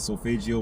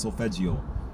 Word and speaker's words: solfeggio: I said solfeggio wrong again in the last video. I meant solfeggio. It's pronounced solfeggio. That's how the word's pronounced when you look it up online and push the button to hear how it sounds. The 9 solfeggio healing frequencies.